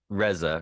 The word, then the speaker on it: Reza: With me today is Reza. Did I pronounce that right? Reza, Reza, Reza, yeah.